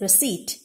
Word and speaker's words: receipt: it is not received it is receipt p is silent the sound of which is per the sound of the